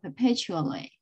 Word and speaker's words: perpetually: perpetually perpetually perpetually and the the stress is on the second syllable perpetually perpetually perpetually in museum